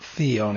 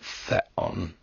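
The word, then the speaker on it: θεόν: Remember, this is not theon, it's not a long E sound, but theon.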